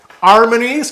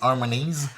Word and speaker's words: Harmonies: Mais tu peux dire en beau français, hein, Harmonie, tu dis Harmonies, Ouais. mais on fait attention à la qualité du français. aujourd'hui. Harmonies Harmonie. en français. Oui, on prononce pas le S en français.